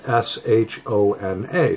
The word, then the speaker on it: Shona: It's S-H-O-N-A. So I looked it up, and it's pronounced, I believe, Shona.